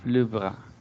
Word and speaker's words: Louvre: No me pronuncie la R porque acá no tenemos esto, Nicole. Le musée du Louvre. Así.